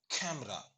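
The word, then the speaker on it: camera: அடுத்ததுலயும் பாருங்க, ரெண்டாவது வால் சவுண்ட் அதை நம்ம டெலீட் பண்ணிடுறோம், உச்சரிக்க மாட்டோம். அப்போ எப்படி சொல்லுவோம்? கேமரா. சொல்லி பாருங்க, கேமரா.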